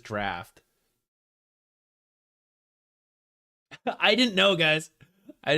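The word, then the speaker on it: Draught: is it is what it's still drought draw it's still spelled that I need I need the typ well it seems like uh at least uh OG pronunciation really is draft I didn't know guys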